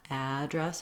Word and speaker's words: address: syllable stress the afowl it's like the word add plus the word dress but dress is short so i wrote it here even though the stress is really just on the only the vowel a address and you want